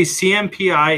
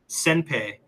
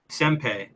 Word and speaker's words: CMPI: Oh, I always say CMPI 82, and they said, Rob, just pronounce it Senpai. Senpai.